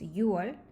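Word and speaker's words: 유월: So difficult to pronounce. So you have to use U instead of 6. So it's 6월.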